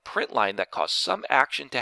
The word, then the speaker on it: println: screen in java is system dot out dot print ln which we usually pronounce as print line after the print line